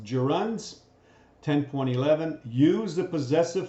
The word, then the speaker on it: gerund: chapter pronouns and runs that word is pronounced gerunds 10 2011 used a